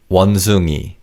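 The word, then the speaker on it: 원숭이: Wanzongi. The final syllable e refers to objects and animals.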